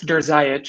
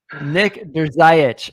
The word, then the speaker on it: Drzayich: I tell everybody to just say, "Does your eye itch?" and that'll about cover it. Okay. It's pronounced Drzayich.